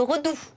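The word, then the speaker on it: redoux: vient de de m'expliquer on ne prononce pas le X donc bientôt le Redou oh là là ben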